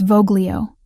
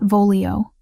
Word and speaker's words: voglio: It's Voglio, not Volio. Soft G. Like this.